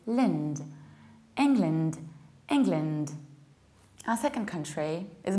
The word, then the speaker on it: England: whereas we should say England, England. So what happens? We need to reduce the beginning and say ing, and also reduce the ending and say lind. It's not land, it's lind. England, England.